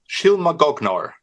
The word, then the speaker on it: Shylmagoghnar: Shylmagoghnar. Yeah, I would have never got that. Thank you. It's So, go ahead. Shylmagoghnar.